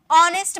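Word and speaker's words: honest: का ठीक है नेक्स्ट ऑनेस्ट मैन नेस्ट नहीं बोलते हैं लिखा हुआ एच ना नेस्ट नहीं बोलेंगे एच साइलेंट यहां भी एच साइलेंट होता है अब ऐसा नहीं है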